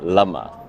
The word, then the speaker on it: Lama: I like them a lot so I've been pronouncing it wrong this whole time it's Lama that's her name yes and you do You